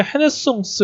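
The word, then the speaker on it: renaissance: 보면은 중세 시대에서 좀 종교적인 어떤 그런 거에서 좀 벗어나서 자연적인 어떤 그런 걸로 찾는 어떤 그런 걸로 르네상스가 원래 그 불어죠. 불어 발음이 이제 헤네송스 이렇게 되는데 그 르네상스라는 거는 뭐냐면 다시 태어난다.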